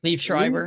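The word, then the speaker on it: Liev: I do like that actor though the the leave live how do you say his name leave yeah I like him and his voiceovers are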